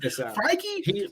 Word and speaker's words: Feige: Feige is a genius, bro.